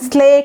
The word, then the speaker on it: slake: আচ্ছা, তাহলে আমরা কোথায় ছিলাম, আরবাইটারের পরেই দেখেন রিলেটিভে লিজেন্ড আছে স্লেক, স্লেক আবার ভার্ব, এটা উচ্চারণটা দেখেন স্লেক, কিন্তু স্ল্যাক বলবেন না, SLAKE, স্লেক করা।